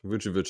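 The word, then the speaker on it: Vučević: Vucevic is how you say that center's name.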